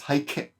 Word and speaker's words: 背景: We can't really hear the E. It's haikei.